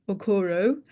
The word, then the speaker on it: Okoro: My name is Okoro. It's spelled e u d i e.